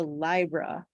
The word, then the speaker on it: Libra: I'm more exciting here he pronounces Libra Libra he says Libra like Library which I think is